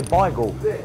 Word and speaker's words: beigel: I say bagel, but we've had people say bagel, and arguments in the shop how you say it.